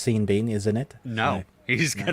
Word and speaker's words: Sean Bean: But the way that the Irish actor spells his name, it should either be pronounced Sean Bon or Sean Bean. You cannot have one letter changed on each word and it be Sean Bean. That makes no sense.